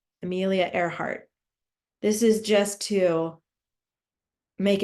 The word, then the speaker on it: Earhart: It looks like Earhart, but it's pronounced, oops, it should be a T. Earhart, not a D. Earhart.